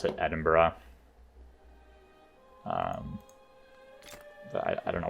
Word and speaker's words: Edinburgh: to pres prevent me from sieging Retreat and Edinburgh don't know why they give it that spelling um that is not how it's spelled it is like a little more intuitive